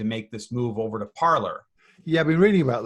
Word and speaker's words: Parler: Well, it's Parler. Come on, man. It's like you're exactly. going to a parlor.